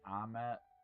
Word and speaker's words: Ahmet: My son's name is Ahmet, Ahmet, and people, I always say it's Ahmet, like vomit, and sometimes people laugh, but it's a very cool name.